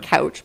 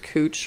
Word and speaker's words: Couch: you know how like in portland there's cooch street right couch but it's pronounced cooch for some reason it was one